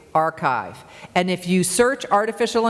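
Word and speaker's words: arXiv: they're for free called archive it's spelled ARX IV archive and if you search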